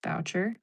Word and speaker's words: Boucher: Um my name is pronounced my last name is pronounced Boucher. So none of the above.